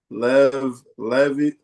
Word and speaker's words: Levetiracetam: Can you pronounce it? yeah, it's Levictoram or Live something, yeah. Levve. It's Levetiracetam.